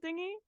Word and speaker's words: dinghy: Isn't it spelt weirdly as well, dingy? Yeah, it probably has like isn't a there an silent H?